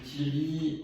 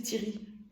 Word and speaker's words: Thierry: Tout le monde dit Thierry, c'est un E muet, c'est comme paiement. Mais n'importe quoi. E muet, ça veut dire que tu l'entends pas, que tu le dis pas, comme le H.